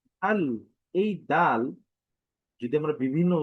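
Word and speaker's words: دال: সহজ আল আবারো যদি বলি দা আল এই দাল যদি আমরা বিভিন্ন উচ্চারণের দিকে যাই সেটি হচ্ছে দা দি দু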